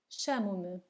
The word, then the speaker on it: chamo-me: Also, in Portuguese, the C and H, when together, make the sound sh.